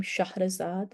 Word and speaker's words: Shahrazad: The heroine of The Thousand and One Nights is Shahrazad. That's exactly how you would pronounce her name, Shahrazad, and that's the version that's closest to the Arabic original story.